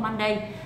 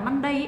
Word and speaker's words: Monday: à các bạn được biết rồi đúng không Monday là Nhưng nếu các bạn đọc là Monday ấ thì nó không có trong âm lưu